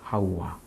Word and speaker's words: 하와: 하와는 하우와입니다. 하우와. 여기 우리나라 말은 우가 빠졌어요. 그래서 하와입니다. 하우와. 우자가 들어가야 정상적인 발음인데 한국어로서는 이 우자를 빼먹었습니다.